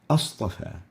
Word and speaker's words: أصطفى: One more example, a istafa, we pronounce it astafa.